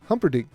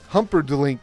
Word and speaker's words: Humperdink: There's no L. Dink. Humperdink. I thought there was a L in there. Oh my gosh. You got a whaler, dude. That was a good hit. And you got to hear me mispronounce it.